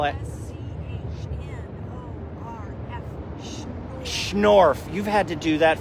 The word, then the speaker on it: Schnorf: i'm talking to laura short right now sure schwarf how do you spell it schnorf you've had to do that for idiots like